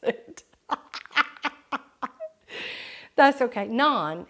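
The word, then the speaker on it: naan: Big D said he didn't know how to pronounce it that's okay none it's none it's like a P Pocket kind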